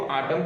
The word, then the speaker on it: autumn: अगला है हमारा आटम, आटम मीन्स होता है पतझड़, AUTUMN, इसमें M के बाद जस्ट N आ रहा है, इस N का उच्चारण नहीं करेंगे, सीधा हम इसको आटम पढ़ेंगे। अगला हमारा वर्ड है डैम, डैम का मतलब होता है वही क्या करना?